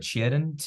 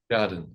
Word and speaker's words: Tjaden: as, I don't know if I have to pronounce his name, but Tjaden, Tjaden. How do you pronounce his name? Tjaden.